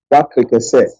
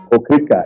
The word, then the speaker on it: Wakrike: Wakrike is what people call Okrika. It's a corrupt name. The British, the Portuguese corrupted a lot of our populations here in the coast. I'm from Wakrike. They couldn't pronounce Wakrike, they call it Okrika.